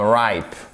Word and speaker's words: ripe: Exactement comme ripe, qui signifie mûr. Vous voyez, vous avez le E final qui ne se prononce pas, c'est ce qu'on appelle un E magique.